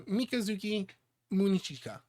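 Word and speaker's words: Mikazuki Munechika: I think it is Mikazuki Munachika. Close. Yeah. I think you just overpronounced it a little bit. So Mikazuki Munichika.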